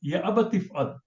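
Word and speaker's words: يا أبت افعل: But if you say it together, ya abatif'al ma tu'mar. Oh my father, do what you are commanded. So tif'al is actually if'al. Ya abati, oh my father, if'al. Ya abati if'al becomes ya abatif'al. Alif becomes silent.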